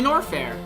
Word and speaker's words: Norfair: It looks like it's time for us to head back to Norfair. Yes, that is how you pronounce it.